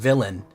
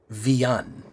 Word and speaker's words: Villain: No es Villain, es Villan. Este es mi apellido, es Villan. Es la correcta pronunciación, ¿correcto? Villan. Como Villegas. Es de País Vasco.